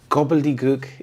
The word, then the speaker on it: gobbledygook: Gobbledygook is language that is meaningless and hard to understand. We have the schwa sound here as in gobleook.